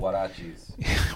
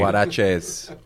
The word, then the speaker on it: huaraches: They're called huarachis. What are they called? They're called huarachis. Huarachis. Where'd you get those? Those are great. Huaraches.